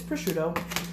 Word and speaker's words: prosciutto: And then we take our prosciutto, however you want to pronounce it. Maybe it's different anywhere you're at, but it's prosciutto.